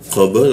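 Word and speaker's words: قبل: Jadi bacanya qab ya qab. Lalu kita matikan di lamnya dari ee ee qabl langsung masuk ke lam qabl ya. Seperti itu cara membacanya.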